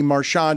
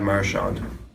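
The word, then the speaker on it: Marchand: He puts the emphasis on the first syllable. Yeah. Let's listen again. Brad Marshand.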